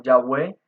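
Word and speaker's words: Yahvé: largo de la historia algunos la pronunciaron como ya ve y otros de diferente manera como jehová podemos ver que esta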